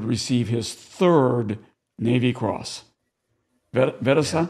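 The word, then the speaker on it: Vejtasa: Vedisa? Yeah. Is that how you pronounce it? Vedisa, yeah.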